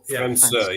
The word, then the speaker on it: França: How do you pronounce it? Is it França? França, yeah.